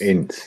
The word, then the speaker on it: Ince: Ince, yeah.